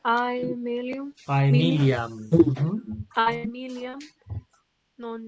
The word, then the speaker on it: Aemiliam: Así se pronuncia Aemilium.